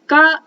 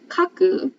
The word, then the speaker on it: 画: we will learn eganoga this is the ga in ega it's also the ga in manga it has another reading kaku not the kaku like